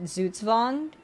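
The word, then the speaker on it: Zugzwang: winged uh and it's based on a German word uh pronounced zuzvond but I realized it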